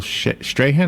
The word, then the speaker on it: Strahan: It was the thing he did just the other day on Good Morning America with Michael Strahan.